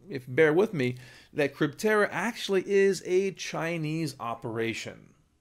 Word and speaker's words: Crypterra: I keep mispronouncing it it's actually crypt era not crypto Terra so I apologize for